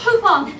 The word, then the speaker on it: Poupon: Poupon, maybe I can get you something while I'm down below.